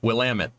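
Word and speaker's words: Willamette: Barracks I'm going to get I'm going to pronounce the name right will Amit it took me forever to not pronounce that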